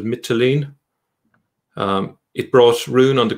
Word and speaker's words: Mytilene: Now, there is also a mention of the conquest of, I think you pronounce it, Mytilene.